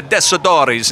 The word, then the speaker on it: Tessitore: Imagine being the Tessitores in Southie.